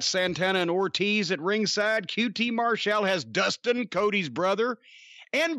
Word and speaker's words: QT Marshall: It's QT Marshall, faces Jake Hager.